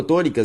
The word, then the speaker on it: tônica: Se eu for separar tônica, perceba que a sílaba tônica é to, beleza?